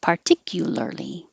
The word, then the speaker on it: particularly: syllables particularly particularly particularly don't forget any of the syllables you have to have all five particularly pudding i'll put something